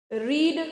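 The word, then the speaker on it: read: setting करते हैं य रीड है इसको क्या बनाएंगे रीड रेड रेड spelling same है बोलने का तरीका अलग है आई एम सॉरी रेड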